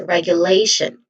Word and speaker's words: regulation: t io n spelling it is pronounced as shun. Again shun. So all in all this is regulation.